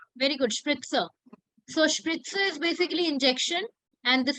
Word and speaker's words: Spritze: Don't consider Z here. Call it S. Spritzer. Very good. Spritzer. So spritzer is basically injection.